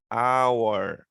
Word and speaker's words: hour: Só que aqui o H nós não pronunciamos, ele é um H mudo.